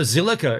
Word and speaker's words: Zilliqa: is in my opinion so zilliqa is how you say it so that's the blockchain